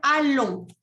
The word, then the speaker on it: allons: Eso se dice allons. Allons. Nous allons, y ahí me hace la liaison entre el sujeto y el verbo.